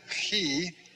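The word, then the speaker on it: chi: sound in english fee and then he like the german sound and in the sea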